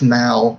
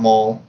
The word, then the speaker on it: Mal: name the whole time it's Mal not Maul I just like to